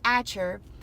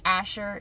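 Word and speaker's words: Achor: The valley of, and actually I think it's Asher is the way it's pronounced.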